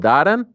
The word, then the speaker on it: Darren: I I said I said your name doen like that isn't that how they say it in Liverpool danen yeah what D danen